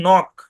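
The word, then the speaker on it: knock: হুবহু দিবেন ভয়েস দিবেন শব্দের শুরুতে কে এন থাকলে কে সাইলেন্ট যেমন নক বানান করবেন বানান করতে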